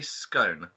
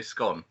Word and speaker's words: scone: s o n e how do you say it I say scone okay majority of people say scone Ah that's interesting i'